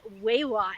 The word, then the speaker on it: Wai Wah: an episode with I just learned the correct pronunciation of her name is wewa and I'm sure we're even going to hear